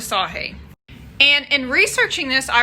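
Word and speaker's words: Sagée: story is about emily sahee we had trouble figuring out how to pronounce her name but we went with sahee and in researching this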